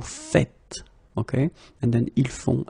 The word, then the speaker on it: faites: The first one here for pronunciation, nous faisons, and the second one here because you write it like that and it's not vous faisez but vous faites.